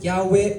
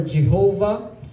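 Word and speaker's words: Yahweh: ex so so so you can pronounce it yahwe or Jehovah but that actually means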